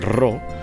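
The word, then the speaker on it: ρ: como nuestra pe solo en cambio suena como er la p en griego es be y tiene otro símbolo como bien saben los matemáticos y los estudiantes de primaria y se utiliza el rock o la letra rock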